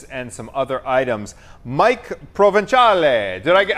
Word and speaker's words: Provenzale: And here to tell us more about this and some other items, Mike Provental.